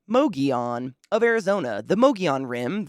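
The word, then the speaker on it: Mogollon: we begin our journey on the mogion rim pronounced mogion of Arizona The mogion Rim the rim okay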